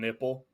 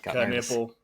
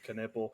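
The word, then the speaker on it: Knueppel: fans reach out to me this week and pronounce it is can nipple yeah nipple it is not just nipple the there it's kipple just Duke fans wanted to let us know yeah it is canle they also wanted to let us know they're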